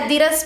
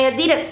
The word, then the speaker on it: Adidas: My Adidas pants. Adidas. Yes. That's not how you say it. Yeah, that's how you say it? No, it's a German brand, and since I'm German, I guess I know it better.